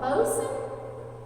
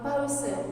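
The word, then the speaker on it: boatswain: Y'all ever heard of something called a bosun? It's spelled boat swain. B-O-A-T-S-W-A-I-N. You heard of one? A bosun.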